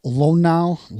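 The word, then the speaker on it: Luhnow: pitching signs, and it suspended Astros GM Jeff Lonau, is that how you pronounce his name?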